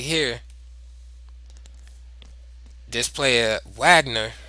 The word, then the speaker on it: Wagner: right here display a Wagner right or vogner how is probably properly pronounced when he played this